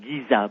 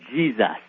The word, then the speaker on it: Giza: British museum said is should be pronounced not Giza but Jesus oh really yeah we